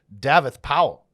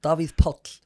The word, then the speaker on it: Davíð Páll: the founders and owners of the secret cellar davit powell yes how you doing good good if you would pronounce my name properly how do you say it bobby's pulp Oh oops yeah yeah just like that beer